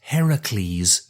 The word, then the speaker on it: Heracles: Aphrodite there there's Hera there's Heracles notice I said it in the Greek manner I'm deeply impressed almost